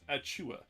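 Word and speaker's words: Achiuwa: do you say it precious at Chua yeah so it's like uh a lovely sneeze in my opinion kinda sorta um so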